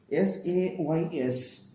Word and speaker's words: says: Now, S-A-Y-S, says. Says. See, the first S is pronounced as sa, the second S is pronounced as za. So, the word is says.